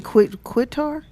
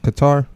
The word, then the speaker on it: Qatar: Tangie Quitar? Yeah, it's pronounced, but don't pronounce the Q that way. I think it's Oh. another way you say it. Oh, I think is it Qatar?